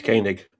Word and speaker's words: Koenig: According to Wikipedia, it's Kik.